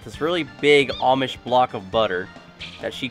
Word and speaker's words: Amish: Yep, well, it's pronounced Amish, not Amish.